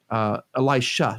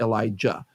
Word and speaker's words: Elisha: The main character here is actually the prophet Elisha, Elisha, not Elijah.